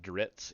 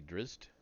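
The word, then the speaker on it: Drizzt: the front driz dordon I used to pronounce it dritz even though the t comes after the Z's I don't anymore I say driz uh so anyway part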